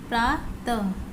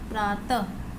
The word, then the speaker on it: प्रातः: अब अह की मात्रा जब हम किसी लेटर पे लगाते हैं तो उसका प्रोनाउंसिएशन कैसा होता है। जैसे नमः, नमः, प्रातः, प्रातः, तह, मह, नह, इस तरीके से आपको इसको पढ़ना है, ठीक है, और इसे ट्रेस भी करना है।